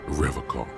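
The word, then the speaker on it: Revachol: He pronounces Revocol with a hard K, unlike. I like to pronounce it the hard way. The old way.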